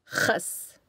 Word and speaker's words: Khas: The letters KH represent the letter Kh, which is pronounced like the Kh in the German composer Bach's name. An example of this letter in context is the Arabic word for lettuce, Khas.